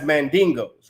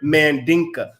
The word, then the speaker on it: Mandinka: timbuktu were identified as mandingos right mandingo is a mis is a mispronunciation of the word mandinka it's the misinterpretation of